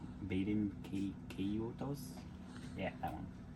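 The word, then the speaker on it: Baten Kaitos: Batten Kaitos? Baden Kaitos? Yeah, that one. Well, in Japanese, it would be Batten Kaitos.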